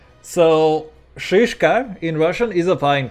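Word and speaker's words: шишка: But it also has to be like very harsh. The sh is like a very harsh sound.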